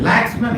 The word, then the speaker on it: Laxman: Was it Laxman? Yeah very simple. He-Man, Superman, Laxman. I can say Laxman.